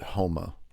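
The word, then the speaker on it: Houma: there in modern day Huma, Louisiana. And they actually washed up next to Avery Island, where they still make Tabasco sauce to this very day. I believe the locals pronounce it Homa.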